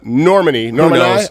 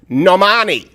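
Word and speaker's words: Normani: one-off another female singer and i don't know normandy who even knows at this point you know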